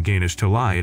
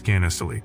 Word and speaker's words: Ganesh Talai: From there, he tracks down his home and realizes that he has been pronouncing Ganesh Talai as Gannestaly, so he cannot find any information.